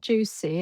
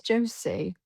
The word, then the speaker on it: Josie: Um I just said it's not juicy, it's Josie.